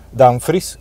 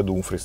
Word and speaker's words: Dumfries: scambio con pacata jovic dan fritsche anzi ad un freeze qualcuno dice da un fregio ad un film che lo sia dumfries la pronuncia corretta i psv chiede 20